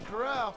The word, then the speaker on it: corral: looks like a fine Corral pronounced coral and I think you